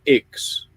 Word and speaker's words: IX: got some other friends in a group called Ix. Now, if I say Ix to you, how do you think that's spelled?